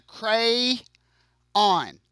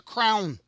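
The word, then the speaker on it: crayon: to talk like this I pronounce this as a cray on okay please understand this is so this is a cray on I do not pronounce this as a crown okay it's not a crown okay I know some people do I'm sorry that's not me so uh we're going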